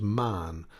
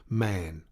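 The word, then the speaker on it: Mahon: white long beard and his name was marn but he insisted that it should be pronounced man he was well connected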